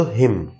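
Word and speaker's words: hymn: কলম, অটম, হিম, এটার উচ্চারণ কিন্তু হিম, এনটা কিন্তু সাইলেন্ট।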